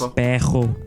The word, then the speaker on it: perro: The word for dog Perro, becomes pejo.